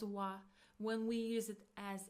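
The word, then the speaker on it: は: So when we use it as a particle we pronounce it as wa.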